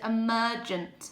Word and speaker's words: emergent: The next one says emergent. This G is pronounced as a J.